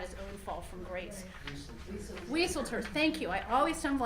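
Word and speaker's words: Wieseltier: And there was a fantastic quote on there from Leon Weisler, I always get his name wrong, who has recently had his own fall from grace. Wieselter, thank you.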